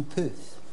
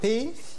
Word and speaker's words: Pef: Et comment on prononce en fait Pef ou Peuf? Pif. Pef.